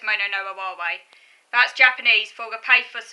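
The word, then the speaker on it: もののあはれ: Mono no awari. Mono no awari refers to mono no awari, or mono no aware, I think that's how you pronounce it. Mono no aware. Yeah, it's mono no aware.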